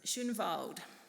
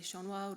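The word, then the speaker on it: Shonwald: So, it's Shunvald. S H O N W A L D. Um, a lot of people will say Shaunwald or Skunvald or whatever comes out and that's totally okay.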